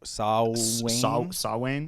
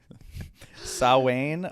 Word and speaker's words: Samhain: like the connection between samhain saw wayne because it's irish so the words or the letters mean nothing in terms of how you pronounce it just ask my friend siobhan sowwain uh is a is